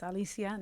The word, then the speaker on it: Alicia: the pronunciation you know it's Alisia not Alicia you know but but other